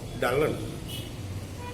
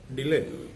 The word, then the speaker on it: Dylan: was not happy because the word was pronounced like Dullan, and the people might regard him as a dull person. And Dylan wanted his name to be pronounced as Dylan.